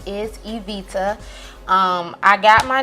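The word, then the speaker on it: Ebita: I got my name most people do not know how to pronounce our name and then bugs me like really really bad and they'd be like II got it and I'm like well it's Evita e/b ITA my friends they call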